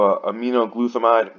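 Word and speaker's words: aminoglutethimide: big of a deal then we go to a me no glue thumb ID that's how you pronounce it this is a wrong with his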